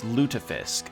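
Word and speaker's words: lutefisk: Oh, it's lutafisk. That's how you pronounce it.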